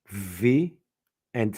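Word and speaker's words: β: using your lips p v and F so for us the V is the second letter and it is pronounced VA that's why I'm telling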